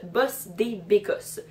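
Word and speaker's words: bosse des bécosses: première que j'ai trouvé se prononcent boss des bécosses donc si je définis chaque terme bosse ça veut dire patron ça s'écrit b oss et decosse passée les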